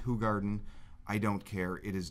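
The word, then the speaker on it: Hoegaarden: find a cold so we're GNA go with hog Garden I've been told it's pronounced hug Garden I don't care it is delicious it we're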